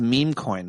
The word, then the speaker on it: meme coin: First of all, I think it's meme coin. The way you're pronouncing it is bothering me. Oh, sorry, meme coin.